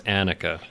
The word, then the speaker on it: Anakah: I was saying Anukica before and knowing now it's Anakah.